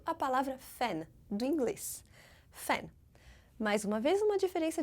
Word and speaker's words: fan: Fan. Mais uma vez, uma diferença de pronúncia bem importante, porque em francês o A é bem aberto, fan.